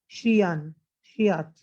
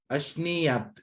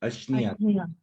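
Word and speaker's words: अश्नीयात्: च तस्मिन् छागमासेन मधुराम्लेन श्रियात् मधुराम्लेना अश्नियात, अश्नियात ऐसे पढ़िए, अश्नियात।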